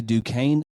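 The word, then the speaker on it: Duquesne: this school Duane duain yeah the S is silent okay du Kane at 11 do we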